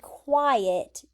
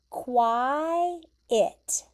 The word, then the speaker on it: quiet: QU says qua. And then I made a capital I. Quiet. okay? Quiet. That's how you pronounce that word, quiet.